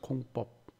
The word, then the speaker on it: 공법: 먼저 용어 설명을 보면 우리가 공법 하잖아요. 된소리로 법이라고 읽죠. 공법.